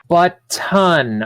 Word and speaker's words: button: Button. Button. Emphasis on the T.